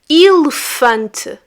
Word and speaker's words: elefante: And in fact, both letter E in this word do not have that sound.